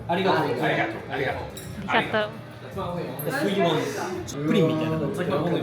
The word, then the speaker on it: ありがとう: Is it origato? ありがとう。 Arigato.